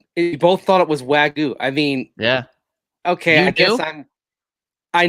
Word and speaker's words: wagyu: go baby vw bun i taught them how to pronounce wag u which i also didn't know until we started partnering with hassel cattle company ryan i don't think anyone knew i mean it's wagyu right i mean until you